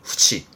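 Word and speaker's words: 付置: 발음은 후치, 후치 많이 쓰진 않습니다.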